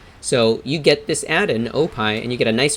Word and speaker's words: OPie: It's called Opie. I'll spell it for you. O-P-I-E, just like the dessert. Oh, pie.